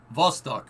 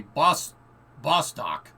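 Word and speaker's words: Восток: So like a B in Cyrillic is V in English. So like Vostok or East, for instance, would be Bostok if you pronounced it in English.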